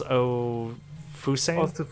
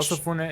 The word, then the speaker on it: Osafune: This is Ofusane. Osafune. Osafune. That's how you pronounce it.